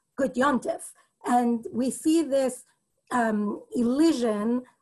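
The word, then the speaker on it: gut yontif: In Yiddish, the correct pronunciation, by which I mean the one that has been sort of formalized as proper grammatical Yiddish is a nun sound. The letter in the word is a mem, so it says on the page, gut yom tov, or gut yom tif, but the way that we pronounce it in Yiddish when we're actually speaking Yiddish is gut yom tif.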